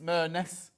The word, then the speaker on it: Merness: Rhymes with Loch Ness, Merness. Hello, how Merness, are you?